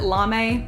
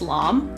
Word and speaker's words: LARME: to read called Lam I always get this wrong I used to pronounce it lame but then people like it's just lamb so I think it's lamb but it's this magazine